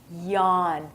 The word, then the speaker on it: yawn: talk about is yawn this is difficult to pronounce so try it yawn you have to actually open your mouth when you're going to yawn yawning is a natural